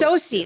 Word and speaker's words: SOCE: SOCE, that's how you say it.